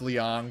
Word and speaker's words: Liang: I know it's pronounced Liang, but, like, you know, I've seen that Jim